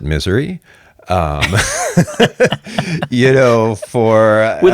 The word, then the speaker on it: Missouri: in Missouri Mount Vernon Missouri you know some people like to pronounce it Missouri or Missour um I usually pronounce it Misouri um you know for